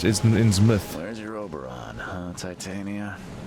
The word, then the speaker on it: Innsmouth: That is pronounced Innsmouth.